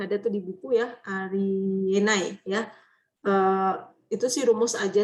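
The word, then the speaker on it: あり得ない: Kalau ditanyain kenapa bukan Unai juga orang Jepang nggak bisa jawab ya. Memang bacanya Enai gitu aja.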